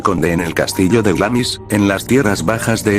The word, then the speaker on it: Glamis: las almenas del castillo el misterio de glamis pronunciado glance sigue vivo gracias a